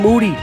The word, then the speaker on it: Moody: where me and Jean Moody whose last name rhymes with duty are gonna be discussing